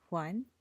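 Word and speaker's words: 还: For example, hai in some cases is spoken as huan, or yi, the number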